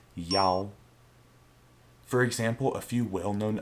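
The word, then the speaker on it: 幺: number the pronunciation for the number one changes from e e sounds very similar to the number seven chi so to avoid any confusion when reading a string of digits and a number the pronunciation of number one is yao for example a few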